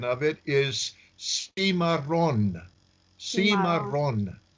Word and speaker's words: Cimarron: pronunciation of it is Seema Rhonda Seema Rhonda you have to roll the R's in Spanish okay and Seema drawn